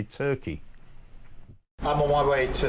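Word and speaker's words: Türkiye: I know that Turkey changed their spelling of their country from Turkey to Turkiye, but it's still pronounced Turkey.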